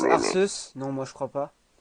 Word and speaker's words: Arceus: Est-ce que Oh tu là prononces là là là. Arceus?